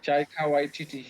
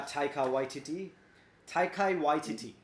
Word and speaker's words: Taika Waititi: How do I pronounce his name, man? He has a really difficult name, if you ask me, Mr. Chaika Waititi. Yeah, Taika Waititi, the director of Jojo Rabbit.